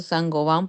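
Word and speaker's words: Saint-Gobain: Algo así, pero de qué era, o sea, se escribe Saint Gobine, pero se pronuncia Sangovan porque es una empresa francesa, es de productos para la construcción.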